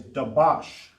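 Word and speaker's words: דבש: And how you say honey in Hebrew is dabash.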